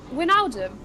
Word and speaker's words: Wijnaldum: How do you pronounce his name? Wijnaldum.